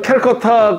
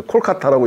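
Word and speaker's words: Kolkata: 저 캘커타 그러니까 지금 요즘 캘커타라고 하면 영국 발음이라 못하게 합니다. 그래서 콜카타라고 얘기하는데 콜카타라고 하는데 그 역전 앞에 그 화단에서 똥을 넣더라고.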